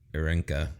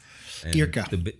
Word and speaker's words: Irka: but it's not like being at home with Irenka or whatever. Right. Is that how you say her name? Irka.